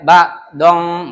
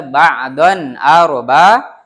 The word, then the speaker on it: ba'dan: Ba'don tuh, nggak boleh ba'dong, nggak boleh. Tapi yang benar ba'don arba ba.